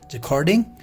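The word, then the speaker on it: jacquarding: इसका जो प्रोनंसिएशन है वो है जखार्ड, ठीक है, जे ए सी क्यू यू ए आर डी आई एन जी, जखार्डिंग। और ये जो सिंपल वे में बोल रहे हैं इसको बोलते हैं जखार्ड।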